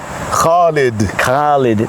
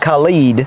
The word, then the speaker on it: Khalid: Khalid. Not Khaled and not Assad.